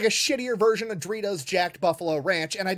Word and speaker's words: Doritos: But it's pronounced Doritos. Doritos. He's calling it Joritos.